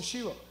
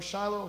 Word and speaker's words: Shiloh: Lord of hosts and sheilo or Shiloh however you want to pronounce that also the sons of